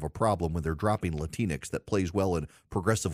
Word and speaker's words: Latinx: at them as up you're latinx rhymes with Kleenex you're latinx I noticed